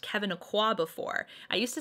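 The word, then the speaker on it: Kevyn Aucoin: Like, it actually took a really nice person telling me, actually Kevin Aqua is pronounced Kevin Aqua.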